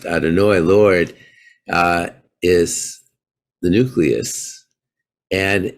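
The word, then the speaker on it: Adonai: when you understand that you'd have hey pronounced adonoi lord is the nucleus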